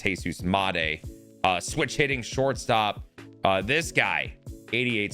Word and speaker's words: Jesus Montero: I I I I can't stand the fact of how we were pronouncing it on the stream. It's Jesus Montero.